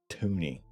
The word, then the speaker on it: toonie: So naturally, everybody said, let's call it a toonie, because it rhymes with loony.